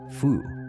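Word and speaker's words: 蝠: The word for bat, fu, sounds like the word for good fortune.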